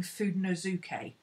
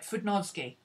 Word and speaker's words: Fudenosuke: I keep saying Fudenosuke, and that's what everybody I've heard says. That's not how she pronounced it. She pronounced it Fudenosuke. That's right, Fudenosuke. She missed out a syllable in the middle that we put in.